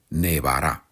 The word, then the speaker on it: nevar: El resto regular indefinido nevó, imperfecto, nevaba perfecto, haevado, futuro nevará. Recuerda que la v se pronuncia igual que la B en español, nevar.